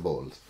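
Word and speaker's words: Bolles: that's spelled b.o.l elias i don't know how to pronounce name but that's it's spelled b-o-l-l-e-s so i'm going to call them bowls and according to time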